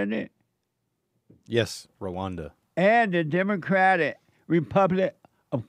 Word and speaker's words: Rwanda: Yes, Rwanda.